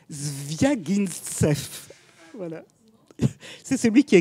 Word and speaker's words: Zviagintsev: Je l'ai écrit, mais c'est impossible à prononcer. Zviagintsev.